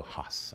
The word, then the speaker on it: Hass: demonstrations in my head I always go Hass look I always say H AAS I'd always pronounce it that way and it was always